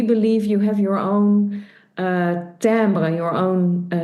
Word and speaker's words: timbre: I like the timbre. That's also, by the way, the name of your company. Yeah, So yeah. so the sound Phonetically, colors. phonetically spelled TAMBR.